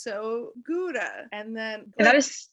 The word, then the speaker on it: Gouda: Yeah, but also in the Netherlands, in Dutch, where Gouda is, that's not how it's pronounced. How's it pronounced? Gouda. Not to put you on the spot. Gouda? Yeah, but you roll the G.